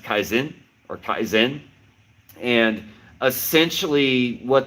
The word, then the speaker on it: kaizen: There's a word, I'm probably going to butcher it, but I believe it's pronounced kaizen or kaizen.